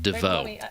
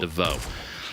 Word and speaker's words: divot: Kitty plays in Creo here, a dusty, what's left of the depot above the divot, or if it's the fancy divot, we pronounce it DeVoe. The T is silent. DeVoe.